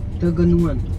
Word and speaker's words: Tegenungan: आज के और इनफैक्ट ट्रिप के लास्ट अट्रैक्शन पे जा रहे हैं, जो कि है, हाउ डू you pronounce it? Tegenungan.